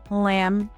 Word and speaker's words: lamb: Silent B usually appears after M or before T. Common examples include climb, thumb, lamb, and debt. In all of these words, the B makes no sound at all.